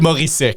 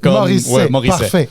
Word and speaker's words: Morisset: est-ce que tu permets aux autres de mal prononcer mon nom? » Alors, OK, c'est bon. À partir de là, oui, c'est Morissette. Morissette.